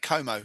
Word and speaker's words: Como: I think you went for Lake Como. I think I went for Lake Ko as well. Rhymes with homo.